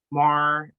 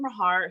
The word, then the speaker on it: Mahar: I was worried that maybe it was like a silent H and it was like Mar, and I've been Bill saying Maher. it wrong. No, it is Mahar.